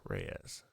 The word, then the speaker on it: Reyes: the main character and dr cecilia reyes reyes reyes yeah reyes that's how you say it um